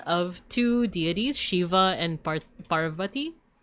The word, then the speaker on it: Parvati: So he is the son of two deities, Shiva and Parvati. Parvati, there we go.